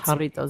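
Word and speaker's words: Jarritos: We're supposed to It's spelled with a You say haritos. I don't know. Haritos. Haritos. Oh, it's pronounced haritos.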